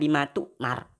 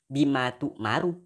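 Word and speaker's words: بما تؤمر: Anda membacanya sebagai "bima tummar," dengan mengucapkan 'r' dengan sukoon. Ya Tuhan. Meskipun itu rafa ', "bima tu'maru ." Bukan "bima tummar."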